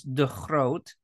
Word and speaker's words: De Groot: The Dutch pronunciation is De Groot, which my father, when